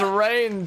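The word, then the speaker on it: Reyn: But it's rain time! And you spell that like it's time to reign over the people. Instead of Ryan time.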